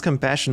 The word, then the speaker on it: compassion: You pronounce compassion more like Spanish style instead of French. It's more like l'amour, la compassion, l'autodiscipline.